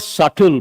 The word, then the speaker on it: subtle: What is the meaning of the word subtle? B is silent.